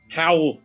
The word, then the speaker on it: Hywel: Howl. That's his name. Calls himself Howl? Howl. Oh, Howl. Yeah. Don't know why they pronounce it like that, because he spells it Hywel. Like Hywel.